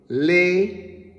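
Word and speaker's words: לקח: Leqach. And it is pronounced le-ka.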